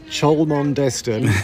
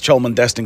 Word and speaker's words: Cholmondeston: So, how is Cholondeston or what is it? What is it? So, um, visitors to the to the marina, everybody calls it Cholondest and we would tell people, yes, it's Choland Destin because it's easy and that's the way it's spelled, but actually it's pronounced Chumsten.